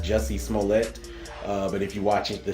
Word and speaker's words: Jussie Smollett: He does a great job as well, and there was even a role there for, I believe his name is pronounced Jussie Smollett.